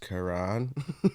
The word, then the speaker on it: Quran: It's pronounced Quran.